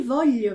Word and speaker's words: voglio: A única coisa que fica diferente mesmo, e tem que tomar cuidado, é quando tiver o I, que aí eu vou pronunciar G, como temos em botilha e temos agora em ti voglio bene.